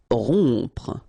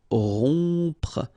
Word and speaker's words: rompre: Rompre. Okay, O-M together, on. Rompre, rompre.